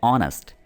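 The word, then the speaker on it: honest: जैसे आप अगर यहाँ पर देखें तो एच है लेकिन इसकी जो साउंड है वो आती है ऑनेस्ट, ठीक है, तो आ वाली इसकी प्रोनाउंसिएशन आ जाती है, ठीक है, तो इससे पहले हमने एन लगाया है, याद रखें।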